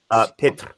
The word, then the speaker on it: Pitre: Depends on if you can speak French and roll the R's. All right. Pitre is the technical way, but I just say Pitt like Brad Pitt.